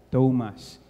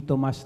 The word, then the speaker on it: Thomas: Mark is not a direct Disciple so ang pagbigkas mo ng pangalan mo is Mark John Thomas hindi Tomas namang Tomas ha um I love the Ano